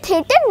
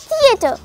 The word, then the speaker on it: theatre: गलत प्रोनाउंस करते हैं उस जगह को हम कहेंगे टी एच ई ए टी आर ई लेकिन हम इस जगह को अक्सर औकात प्रोनाउंस कर देते हैं थिएटर यह थिएटर नहीं है इट is pronounced as थिएटर टी एच ई ए टी आर ई थिएटर एक लब्ज है फ्रीडम